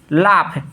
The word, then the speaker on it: laugh: लाफ, यहाँ देखिए LAUGH, यू के बाद क्या है, यू के बाद जी एच है, तो इसका प्रोनाउंसिएशन क्या होगा भाई, लाफ।